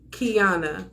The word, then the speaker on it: Kiana: gotcha she says yep call me q but it's pronounced Kiana thank you Kiana that